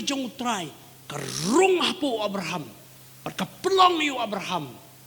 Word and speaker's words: Abraham: Pi kini ka kentien Abraham ngila pronounce kunta ke Abraham, H-A-M, ham.